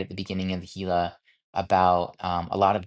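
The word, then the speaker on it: Gila: really good was the Hila River. Um, which which is the section I was getting into, and it's spelled G I L A, but um, sounds like Ela with an H.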